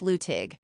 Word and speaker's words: Luttig: More than a quarter-century later, it was Luttig, pronounced Luttig, who would get a late-night call to come the aid of his tribe.